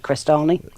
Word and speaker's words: Crestani: I've assumed that's how you pronounce it, Crestani. Right, yeah.